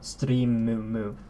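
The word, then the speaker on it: ストリーム: So stream in Japanese is pronounced streamu, or something along those lines. Streamu. So stream. It's not It's not like just the M. It's mu. Streamu.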